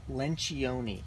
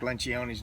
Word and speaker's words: Lencioni: moment you can clarify how is it you pronounce your last name hmm uh Lencioni listen when she owned me yeah no it's not true it's not true but a lot of people mispronounce Patrick Lynch gionis name and suits we're actually crazy youth ministry